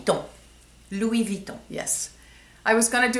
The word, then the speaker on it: Louis Vuitton: real oh Lou Von v vuon v Von Louis Von yes I was going to do a video